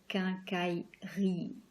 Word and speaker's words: quincaillerie: So it's and then you have the letter I, and in French it's E. It's a pretty long E. It's not like in English E, it's E. So quincaillerie.